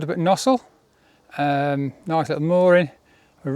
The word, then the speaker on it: Gnosall: next stop is where is it called nosel nosel G nosel nosel no just I know I was just saying how you spell it Nole with a G and um yeah probably